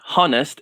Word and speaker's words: honest: No, it's not honest. It's honest. Like a silent H.